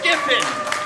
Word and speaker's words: Giffen: Am I saying it right? Giffen? It's Giffen.